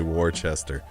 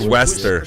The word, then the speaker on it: Worcester: Worcester, man. Worcester, yeah. I said Wester, I think. But so it's like Worcestershire sauce type of thing. That's how you say it. No, I don't Worcestershire. No, it's Worcester though. It's Worcester, Mass. Yeah. So that's just how you pronounce.